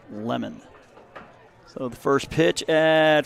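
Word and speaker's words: Lemmond: And with that, we'll get kicked off here in the top of the first with Thomas Lemon, L-E-M-M-O-N-D, but we're told it's pronounced Lemon.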